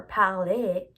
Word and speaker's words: parlez: They are pronounced the same way, both of them are parler, but they're written in different ways.